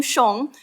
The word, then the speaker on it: Xiong: So my last name Shong. It means bear in Chinese and is pronounced shong however you choose.